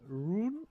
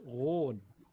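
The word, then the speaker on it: Roon: It's a low R and a hard O. That's one of my. That just sounded so bad. But actually, a lot of German players say Rune or Rhone or Rune, something like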